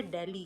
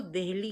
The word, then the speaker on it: दिल्ली: डब्ल्यू एन पी ओ आर ई इसी तरह दिल्ली का दिल्ली कोई चीज ही नहीं थी या तो इसको दिल्ली कहा जाता था कि दिल्ली जिसे लेकर के